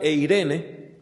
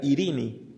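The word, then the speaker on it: εἰρήνη: En griego, la palabra paz se pronuncia, en el griego antiguo se pronunciaba eirene, hoy se pronunciaría irini.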